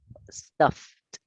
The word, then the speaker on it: stuffed: Esta, stuff, stuffed, stuffed, stuff, stuffed.